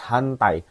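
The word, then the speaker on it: 反対: Kenapa nomor 2 di sini ada kata kunci hantai shite imasu, hantai. Bukan hentai, hati-hati.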